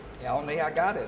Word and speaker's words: Elliony: If I get your name wrong, Elney, I got it.